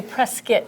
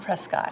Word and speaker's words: Prescott: do you pronounce it you say press kit not Prescott so so that's number